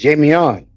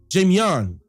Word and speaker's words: Jamion: Wait a minute, Jamie, am I pronouncing that correctly? It's Jamion. Jamion.